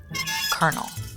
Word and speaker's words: colonel: to the position of Colonel I hate that Colonel is spelled the way it is because it's like where do the are it sounds like colonel with an R but it's like oh